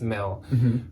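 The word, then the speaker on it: Mille: very high-end expensive brand I don't know if it's pronounced Millie or Mill it's m-i-l-l-e I think it's Mel from Minneapolis she's from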